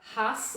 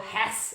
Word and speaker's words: Hass: me here is uh known as a hus or hass avocado however you want to pronounce it pronounce it h a double s and is the